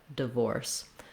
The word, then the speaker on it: divorce: like a duh sound, divorce. The trick to getting that really reduced short vowel in the first syllable is to focus on the stress syllable vorse.